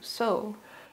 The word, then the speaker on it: sew: Few, so. Wonderful. That is incredible. Lots of people get this word wrong, which is so, and you got both of those correct.